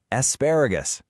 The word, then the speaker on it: asparagus: Asparagus. Really notice how the stress is on that second syllable.